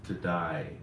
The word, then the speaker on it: today: The word today is really pronounced to die because it's supposed to rhyme with spy.